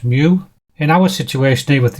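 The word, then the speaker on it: μ: This symbol is pronounced mu.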